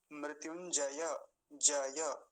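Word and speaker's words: मृत्युञ्जय: फिर से देखिए महा मृत्युंजय जय ऐसा बोलेंगे नहीं तो जल्दी में कुछ और ही निकल जाता है महा मृत्युंजय मृत्युंजय यानी जकार को भी आधा कर देते हैं ध्यान से देखिए गलत क्या उच्चारण होता है महा मृत्युंजय ज ज नहीं जय ऐसा बोलेंगे आप समझ पा रहे होंगे अंतर को महा मृत्युंजय मंत्र ठीक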